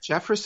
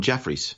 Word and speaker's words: Jeffress: seems like it's red is it Jeffress is that how you say his name because I've been calling Jeffrey's no it's Jeffress je FF are ESS so that's a hard